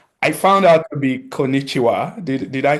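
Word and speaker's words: こんにちは: in Japanese, which I found out to be konnichiwa. Did Did I say that right? Perfect. Actually, that's perfect pronunciation and I I love that you you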